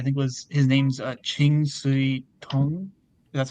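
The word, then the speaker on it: Ching Siu-tung: this film I think was his name's uh Chingu Tong that's how you say his name.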